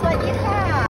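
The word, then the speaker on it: สวัสดีค่ะ: Yeah, and then first of all, sawadee ka. How do you say it again? What? Sweaty hi? Sawadee ka. Sawadee ka. Sawadee ka. Sawadee ka. By the K. Sawadiha.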